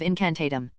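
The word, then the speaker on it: incantatem: Remember, the stress is on the last syllable of incantatum.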